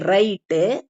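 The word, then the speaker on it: write: பவ் அப்படிங்கறத அழுத்தி சொல்லிக்கணும் இப்போ சைலெண்ட் டபள்யூ வேர்ட்ஸ் டபள்யூ வந்து இங்க உச்சரிக்க படாத வார்த்தைகள் ஓகே அப்ப எழுத்து டபள்யூ இருந்தாலும் நம்ம ரைட் ராங் ரிஸ்ட் அப்படின்னு எல்லாம் சொல்லக்கூடாது சொல்றது இல்ல இந்த டபள்யூ வந்து சைலெண்ட் ஆயிடும் அமைதியா இருக்கும் உச்சரிக்கப்படாது அப்ப எப்படி உச்சரிப்போம் வெறும் ஆர் ஐ டி ரைட்டு ஆர் ஓ என் G wrong or ஐ எஸ்டி ரிஸ்ட் அப்படின்னு படிப்போம் அப்ப இந்த w வந்து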